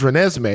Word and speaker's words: Renesmee: I'm sorry for pronouncing her name wrong, by the way, guys. Her name is Renesmee.